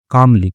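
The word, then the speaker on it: calmly: उन्होंने कहा, पिताजी ने कहा कामली। ठीक है? एल साइलेंट होता है इसमें काम ठीक है कामली शांतिपूर्वक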